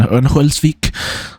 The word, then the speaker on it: Örnsköldsvik: It will take place in Örnsköldsvik. That's how you pronounce it.